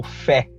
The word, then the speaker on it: Fe: Um jogo que eu gostaria de comentar é o Fé. Exatamente, ele se escreve assim, F-E, Fé.